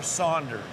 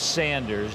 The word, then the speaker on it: Sanders: Is it Sanders or Saunders? It's Sanders. There is no U in it.